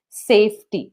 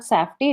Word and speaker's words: safety: say that it is safety not safy it is safety earlier you I know